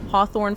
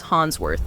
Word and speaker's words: Hawthorne: She mispronounced Hawthorne Flower as Hansworth.